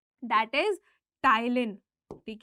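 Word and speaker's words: ptyalin: जानते हैं, that is टाइलिन। ठीक है, पी इसमें साइलेंट रहेगा, इसको कहते हैं हम टाइलिन, जो कि सलाइवरी अमाइलेज का ही दूसरा नाम है।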